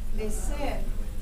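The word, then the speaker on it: mecer: Wait, spell it. M-E-C-E-R. Meser.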